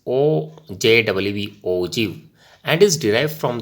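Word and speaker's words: ogive: Okay, so the term OGU, OGIV is pronounced as OJWV, OGIV, and is derived from the word OG.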